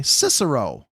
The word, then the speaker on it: Cicero: Oh, like the Roman emperor. Oh, okay. Cicero.